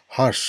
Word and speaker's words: harsh: Harsh, মানে কঠোর উচ্চারণটা এখানে হেইচে আর এস এইচ বাট R silent থাকবে, হার্শ উচ্চারণটা হবে।